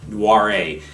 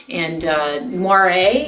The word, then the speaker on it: Noiret: This is Anyela Vineyard's 2011 Noiret. How many times did you have to pronounce that?